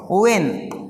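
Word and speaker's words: when: है यहां पर मैच करीब-करीब क्या होता है साइलेंट होता है अब देखिए यहां पे एक और शब्द है व्हेन यहां पे भी देखिए क्या है यहां पे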